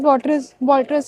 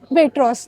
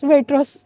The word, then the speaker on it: Waitrose: Like Walters and MS are expensive, but Walters is more expensive than. Sorry, it's Waitrose, not Walters. It's Waitrose. Sorry for my pronunciation.